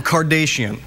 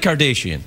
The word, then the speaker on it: Kardashian: Why are you saying Kardashian? How do you say it? It's Kardashian. You're like one of those newsreaders that says Nicaragua, like that. Right.